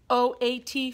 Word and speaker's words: oat: OAT family, say it. OAT family. Let's make some rhymes in the OAT family. Now remember, there's 2 vowels in a row. So this vowel is silent.